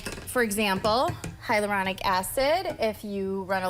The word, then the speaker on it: hyaluronic: So I put that on during the day, and the hyaluronic.